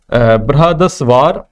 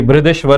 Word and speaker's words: बृहदेश्वर: तो इसमें है ए ऑप्शन महाबलीपुरम, दूसरा है बृहदस्वार, ठीक है, या बृहदेश्वर जिसे कह सकते हैं आप, ठीक है, थोड़ा सा स्पेलिंग इसी गलत है यहाँ पर, ये बृहदेश्वर है।